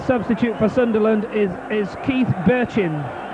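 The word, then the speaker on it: Bertschin: for Sunderland is Keith Birchin. And it's spelt completely differently, but I'm recommended by the Sunderland supporters here today that that's the way it's pronounced, and I sincerely hope that's right.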